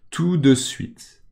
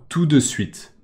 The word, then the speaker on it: tout de suite: options sont possibles et encore une remarque de prononciation tout de suite d'accord théoriquement on dit tout de suite tout de suite mais quand les gens parlent ils disent tout de suite d'accord tout de